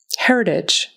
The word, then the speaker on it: heritage: Heritage. Heritage. Again, the T in the middle is really soft, more like a D.